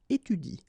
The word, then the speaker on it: étudie: to pronounce it correctly, you should pronounce it like il étudie. Okay, so the last thing that you will pronounce will be the vowel I here. Okay, il étudie. You don't pronounce this here.